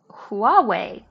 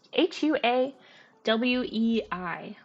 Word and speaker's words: Huawei: in line is from Huawei Huawei I'm tempted to say I don't know if the H is pronounced h u a we i h Huawei Huawei um